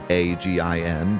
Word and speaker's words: Sahuagin: I guess you could pronounce it. It's supposed to be Sahugin, but instead it's Sahagin.